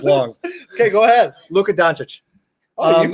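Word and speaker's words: Luka Dončić: Luka Doncic. Oh, you pronounce that one good.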